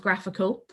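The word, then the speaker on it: GraphiQL: find what's called graphical so that's graph i ql pronounced graphical um graphql console but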